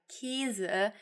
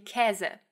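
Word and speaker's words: Käse: parts of Germany but the way I say it is definitely more close to saying cazza and that's the way that Hoch Dutch would have you pronounce it but yes there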